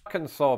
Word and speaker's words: Arkansas: Arkansas, pronounced Arkansas, not Arkansas.